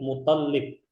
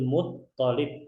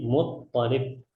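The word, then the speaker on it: المطلب: bukan ini ya bukan mtholb kebanyakan orang bacanya tasdidnya di atas lam yang benar itu tasdidnya adalah di atas huruf th jadi kita bacanya W jaduhu Abdul mualib bukan mutb ya tapi mutalib kita lanjut amu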